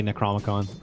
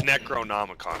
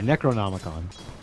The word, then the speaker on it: Necronomicon: Now I'm gonna say Necromicon. I think it's Necronomicon. Right? Yeah, Necronomicon. Necromicon.